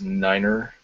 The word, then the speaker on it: Niner: The second one is Niner. That's actually how you're supposed to pronounce it.